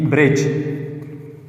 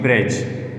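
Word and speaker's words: bridge: इसमें डी और ई बिल्कुल भी प्रोनाउंसिएशन में ये हम इसकी वॉइस नहीं निकाल सकते। अब ये वर्ड्स में अगर मैं एग्जांपल दे देता हूँ, for example ब्रिज, BRIGE, ब्रिज, एंड FRIDGE, या एक मशहूर एग्जांपल है नॉलेज। इसमें भी DGE, इसमें भी DGE। तो इसकी सिर्फ आवाज़ निकलेंगे जी का।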